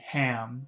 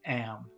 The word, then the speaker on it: Ham: So she's saying Ham. Her nephew's name is Ham, but some people, especially in the UK, don't pronounce H's very much. So instead of saying Ham, she's saying Am.